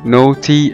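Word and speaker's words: naughty: وزي كلمة نوتي او شقي N A U G H T Y، ال A جه بعد منها ال U فنطقناها او برضو زي ما احنا شايفين نوتي نوتي او شقي.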